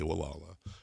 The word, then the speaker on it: Gualala: Spelled Gualala, but the locals say Wala.